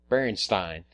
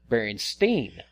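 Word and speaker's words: Berenstain: the way it's spelt, and her correcting me, because I had pronounced it like Frankenstein. Berenstein. And the teacher said, no, it's pronounced Berenstein.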